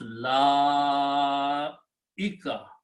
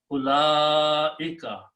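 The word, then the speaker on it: أولئك: So now pronounce la ika.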